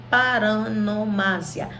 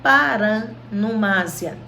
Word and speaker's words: paronomásia: Nós vamos ver 4 figuras hoje: aliteração, assonância, onomatopeia e paronomásia. Paronomásia ou paranomásia, tá? As duas pronúncias são corretas.